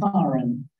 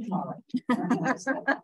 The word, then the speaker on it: Karen: My dad was Irish, my mother English, but I'm called Karen. And the reason I'm called Karen is my mother spent some time in Germany. I came back with that pronunciation of Karen as Karen.